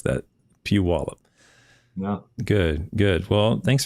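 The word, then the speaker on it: Puyallup: I can't pronounce that that City it's you pronounce it pew wallup pew pew wallup yeah PE yeah there's lots of old you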